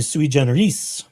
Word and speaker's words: sui generis: attorney discipline cases are sui generis or sui generis If I were to use proper Latin pronunciation, be sui generis. Oh, or better Latin pronunciation. What little I know of such things.